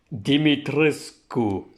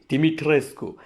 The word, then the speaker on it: Dimitrescu: actually looked up online apparently it's romanian in origin and it is pronounced dimitrisku dimitrescu so lady d she